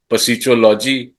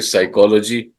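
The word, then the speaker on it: psychology: जी सर जैसे आप लिखेंगे पसीलॉजी बोलेंगे साइकोलॉजी साइकोलॉजी यहां पे सी एच क बन गया कहीं पे सी एच च बनता है कहीं पे ख बनता है तो साइलेंट साउंड्स है उसमें silent sir sir silent sounds है जो आप प्रोनाउंस नहीं करते लिखते हैं तो लिखने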